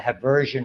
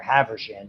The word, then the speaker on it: Haversian: minutes we have there, what we call the Haversian or Haversian, depends on who pronounces it, Haversin system.